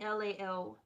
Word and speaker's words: LALELAY: It's me, LALELAY, pronounced like LA like the city.